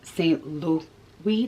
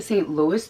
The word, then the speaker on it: Saint Louis: real with y'all too i was mispronouncing the goyard saint lou we tote saint louis dope for the longest i was calling it the saint louis toe and i own like